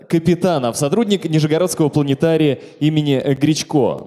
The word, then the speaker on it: Гречко: сотрудник Нижегородского планетария имени Гречко и Тема я специально перед этим посмотрел его фамилия ударение на е вот я вам честно